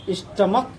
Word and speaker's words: stomach: In the church we have added here because the pronunciation of church is ch. But pronunciation of stomach is k.